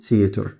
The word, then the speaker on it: theater: اللي بالك التي اتش بتنطق زي صوت الس، بتقول theater.